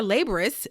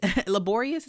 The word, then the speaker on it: laborious: Many of these types of work are actually far more laborous. Laborious is how you say that.